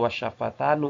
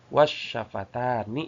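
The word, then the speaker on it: والشفتان: Maka alisanu juga harus ee dibacanya bukan alisanu eh wasyafatanu bukan. Tapi wasyafatani ya dibacanya bukan wasyafatanu tapi wasyafatani.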